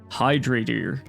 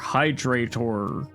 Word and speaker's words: Hydratyr: Hydratyr, or Hydratyr, or Hydratyr. Whatever way you want to pronounce it. You could even pronounce it in a particularly British diphthongy way with Hydratyr.